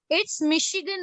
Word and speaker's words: Michigan: It's Michigan, beta. Okay, I spelled wrongly by mistake. I'm sorry for that. Okay, Michigan. Okay, It's pronounced as sh sound, beta.